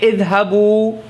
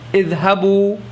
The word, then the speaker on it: idhabu: You say idhabu, idhabu. There's a waw and a alif. The alif at the end of it is not pronounced. So don't be confused. Alif is not pronounced there.